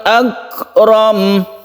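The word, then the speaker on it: أكرم: Kemudian yang belakang ini yang sering saya mendengar orang itu atau yang membaca Al-Quran itu dibaca panjang padahal ini pendek ya. Akram, romnya ini adalah pendek. Khalaqal insana min 'alaqin iqra wa rabbukal akram.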